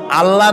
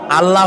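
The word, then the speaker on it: الله: আল্লাহ নয়, কিন্তু আল্লাহ হচ্ছে অশুদ্ধ, শুদ্ধ হচ্ছে আল্লাহ। বলার সময় মুখটা গোল হয়ে যাবে।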